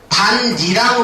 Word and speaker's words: 밭이랑: 이렇게 되면은 이렇게 되면은 얘의 발음이 어떻게 되는 거냐면 반니랑 발음이 되는 겁니다 이렇게 그다음에 얘가 뭐로